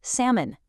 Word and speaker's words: salmon: Think about the word salmon. Entirely dropping the L or island, completely ignoring the S.